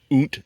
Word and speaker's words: Kunt: And there's two little dots at the top of the U, so it's clear that you say oont and not the other way.